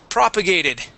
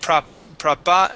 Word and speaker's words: propagated: and last one is propagated propagated yeah so the stress is at the very beginning and you had said prop prop no propagate propagated I yeah something like that but yeah it's propagated with the stress in the beginning okay okay okay all